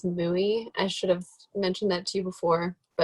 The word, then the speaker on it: mui: I will have to correct the pronunciation is mui.